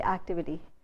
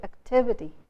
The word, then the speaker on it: activity: But even a word like activity, we tend to say activity. There's no activity in the class, there's no activity in the campus, but we are putting the stress in the wrong syllable because the stress is on tiv.